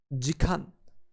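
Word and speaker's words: 時間: We pronounce an hour as jikan.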